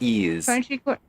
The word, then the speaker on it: Ys: but I've never played it's not y it's pronounced e oh um spelled I